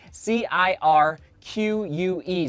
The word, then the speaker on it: Cirque: Cirque series calm and it's spelled I'll help you guys out Cir qu e so Cirque as far as I